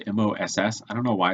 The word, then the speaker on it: MOC: MOC, I don't know the spelling of it, but it's pronounced MOSS.